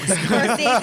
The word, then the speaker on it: Scorsese: First of all, he's going to come after you for saying his name wrong. Scorsese.